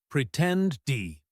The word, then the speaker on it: pretended: The ed ending on words like pretended or leaked is often pronounced as a soft T sound or a D sound, depending on the vowel before it. Pretended. It is not a separate syllable. It is not pretended. It is pretend-d.